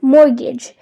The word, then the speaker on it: mortgage: Word number 3 is mortgage. This word means a loan that a bank gives you to buy a house. So which letter is silent here? It's the T.